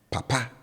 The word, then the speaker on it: papa: And if you're paying attention, the tone on the first syllable is down. And then on the last syllable, I raise it. So papa. Papa. Papa. And this means father.